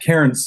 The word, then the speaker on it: Cairns: And then whenever I talked to somebody, they would say, "You should meet Dave Cairns." Am I saying your last name right, by the way, Cairns? Cairns is how I pronounce it.